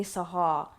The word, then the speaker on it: Sahar: Bear in mind, I've made it easier for you guys to say Sahar. It's not even pronounced like that.